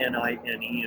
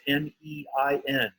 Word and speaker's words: Nein: It's not Nine in this context. Can you hear all those cars or planes that go right by there? It's Cloud 9 and it's Nein.